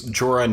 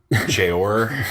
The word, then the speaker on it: Jorah: a team I know you tell me it's Jorah not jr.